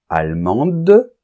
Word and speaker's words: allemande: et n argentin Argentine allemand on nentend pas la lettre D parce qu'elle est en position finale allemande et on va entendre la lettre D parce que d n'est plus en position finale et le E est muet d'accord bien donc fais